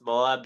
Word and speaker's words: Moab: pronounced Moab, Utah. Oh, Moab.